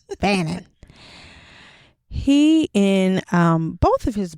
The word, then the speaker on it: Fanon: But I loved how my boy Frantz Fanon, did I say it right? You did. Okay. You did. Because I was saying Fanon before. Fanon.